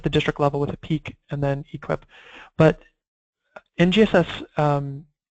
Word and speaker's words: PEEC: One of the pivots required to meet the goals of NGSS that comes from peak alignment, which was also developed by Achieve, and you're welcome to grab a copy of that.